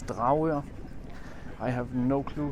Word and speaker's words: Dragør: The Danish way to pronounce it is Dragør.